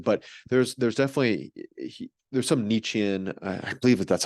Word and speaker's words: Nietzschean: about Jordan Peterson, but there's definitely there's some Nietzschean, I believe that that's how you pronounce it, Nietzschean kind of aspects to his beliefs, things like that, of like will to power, like Mm.